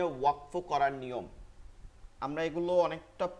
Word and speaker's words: ওয়াকফ: ওয়াকফুন, ওয়াকফুন, এটাকে অনেকে আপনারা ওয়াকাফ বলেন। এই দেখেন, এটা ওয়াকফুন। এটা আপনারা অনেকে বলতে পারেন, আমি দেখছি অনেক আমাদের অন্য গ্রুপের ভাইরা ওয়াকাফ বলেন। এটা ভুল, উচ্চারণটা কি ভুল। ওয়াকফ বলতে হবে, ওয়াকফ।